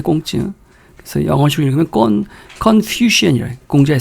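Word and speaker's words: 孔子: 그래서 공자가 이제 중국식으로 발음하면 꽁찌인데 꽁찌.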